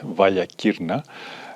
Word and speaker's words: Valia Kirna: before, the dreaded Devil's Valley, or as the locals say it, Vasilakis, and try to apply everything I learned about photography throughout the years.